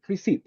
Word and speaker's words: receipt: receip receip receip exactly the letter P P is mute you don't say it receipt okay receip receit yeah